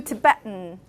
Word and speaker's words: Tibetan: Latin, Latin, and then I do Tibetan, Tibetan, Tibetan, Latin. You must have noticed that from my pronunciation.